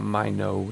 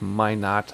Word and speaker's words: Minot: and we are in Minot, North Dakota. It's not Minot, it's Minot, that's how the locals say it.